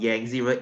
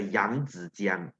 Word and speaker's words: Yangtze: River uh sorry guys it's not yank zero it's the young it's young it's not yangzi okay I mean when when kylo they say yangzi you're like uh dude please pronounce it correctly okay so same thing